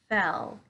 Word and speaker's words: fell: we're gonna talk about today are phil and fell okay so this word up here is fill